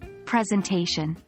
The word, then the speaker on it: presentation: consider the word presentation the stress is on the a presentation pay attention to where